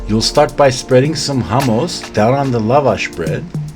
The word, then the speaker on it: hummus: or by now you learned to properly pronounce it, so you call this hummus.